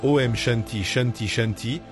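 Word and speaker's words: Om Shanti Shanti Shanti: Prononcé avec révérence comme OM Shanti Chanti Chanti, ce mantra ancestral invoque une pét triple pour le corps, l'esprit et l'âme.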